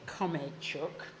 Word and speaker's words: Khromeychuk: So the occasion is to talk about the book that Olesya Khromeychuk, I have to pronounce it right, Khromeychuk, perfect, thank you.